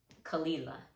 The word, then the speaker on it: Caol Ila: is the chick the chick now we have kalila kalila and finally we have blendy blending thanks